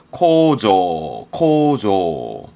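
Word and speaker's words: 構造: 대표가 이게 구조물의 구조, 발음은 코조.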